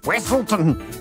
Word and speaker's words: Wesselton: Wesselton! Duke of Wesselton. Often mispronounced Weaselton in Frozen.